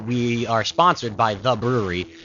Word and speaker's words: Bruery: And we actually have, for our season 2, we are sponsored by The Brewery. It's spelled differently than it's BRUERY.